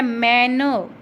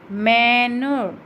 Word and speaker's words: मैनर: ठीक है, फिर है मैनर, मैनर, मैनर, मैन को हम ज़्यादा लंबा बोल रहे हैं तो यहाँ पर फर्स्ट सिलेबल पर ही लग जाएगा।